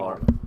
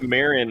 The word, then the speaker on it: Marwyn: It's actually Oh. Marwyn. I thought it was Marin, like the girl from Link's Awakening.